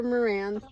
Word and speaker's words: Marans: And here on my little farm, I breed Black Copper Marans chickens. Always spelled with an S that you never pronounce.